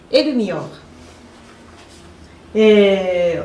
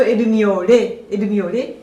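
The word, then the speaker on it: El Miore: El-Mior. Et ça se prononce en japonais plutôt El-Miore, mais en français peut-être El-Mior.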